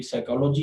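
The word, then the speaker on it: psychology: साइकोलॉजी जो है इसमें भी पी प्रोनाउंसिएट नहीं होगी।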